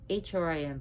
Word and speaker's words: Hrim: H-R-I-M, pronounced Hrim, Hrim, Hrim.